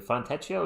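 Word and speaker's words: Fontecchio: You guys want Fontio Fontio is how you say it.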